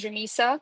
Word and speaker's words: Rameesa: My name is Ramisa, for everybody having difficulty pronouncing my name.